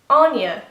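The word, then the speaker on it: Áine: of pronouncing this name, but Aine is the traditional Irish way to say it.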